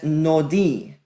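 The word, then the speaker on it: נֹדִי: That first word marked in blue is pronounced as nodi.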